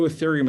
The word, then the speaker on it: ethereum: is called ethereum and i'm going to spell that for you e-t-h-e-r-e-u-m it's pronounced ethereum if you only buy